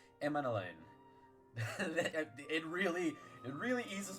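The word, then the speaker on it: Emmanellain: to have finally heard the way that it's pronounced emain it really it really eases my heart because I knew that I was mispronouncing it it's not emanon it's emain we'll be seeing you emain sorry that you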